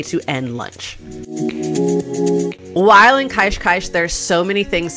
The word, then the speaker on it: Cascais: through our first day in kaishkaish learn how to pronounce it anything with the S on the end of it is a sh sound unless it has a vowel afterwards so I've learned that